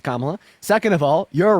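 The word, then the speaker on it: Kamala: uh first of all commala Harris's name is pronounced kamla second of all you're right uh Donald Trump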